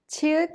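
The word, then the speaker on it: 치읓: Chiut is an aspirated sound with the burst of air, and it has the CH sound like in the English word chapel.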